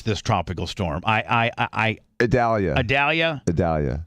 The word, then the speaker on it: Idalia: So anyway, we talk about Tampa-based stuff right now, and how do you officially pronounce this tropical storm? Idalia.